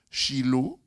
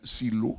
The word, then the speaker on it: Shiloh: Shiloh, ou bien Silo, ça dépend de votre prononciation, parce que c'est un mot hébreu.